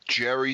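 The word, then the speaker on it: Gerry: with a G because it's like Jeffrey with a G.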